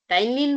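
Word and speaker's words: ptyalin: जो एंजाइम होता है नाम एक ही है टाइलीन बोलो ठीक है इसके अंदर पी साइलेंट है ठीक है और टी वाई ए एल आई एन ऐसे है नाम और सलाइवरी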